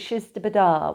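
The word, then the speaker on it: Sizdah Bedar: I believe you pronounce it shiz-da bee-dar, which is probably a terrible butchery of the language, but at Sizdah Be-dar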